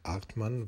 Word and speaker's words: Hartmann: The correct pronunciation in French might be ( 'enri Alber 'artmann ) because H is not pronounced.